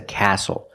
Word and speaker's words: castle: We also see the silent T when you have the spelling pattern S-T-L-E.